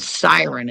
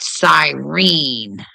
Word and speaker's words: siren: And it's called siren. It's not sirene.